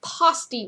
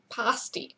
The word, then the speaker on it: pasty: Okay, so it's pronounced pasty, which rhymes with nasty, nasty pasty. So pasty.